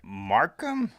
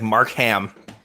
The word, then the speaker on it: Markham: It's like Mark Ham. Mark Ham. You just Mark Ham. It's like Mark Ham. Mark Ham. Yep. It's exactly like Mark Hamill. Yes, without the L.